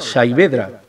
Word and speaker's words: Saavedra: investigadores que dicen que viene de un dialecto árabe magrebí y se pronuncia casi como en español saedra y significa brazo tullido